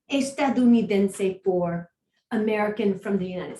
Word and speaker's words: estadounidense: word for that is estadounidense. So it's a big word, but if you divide it up into 3 syllables, a little bit more than that. Estadounidense, okay? Estadounidense.